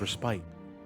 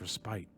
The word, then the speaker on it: respite: only Soul fite see he pronounced it as respite or you will kill me pronounced respite not respit it makes no difference